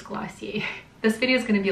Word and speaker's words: Glossier: I always wanna say Glossier, but I think it's Glossier.